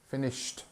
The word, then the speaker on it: finished: actually it's not finish we don't say Ed on the end here we say finish finished okay so I have finished my homework so in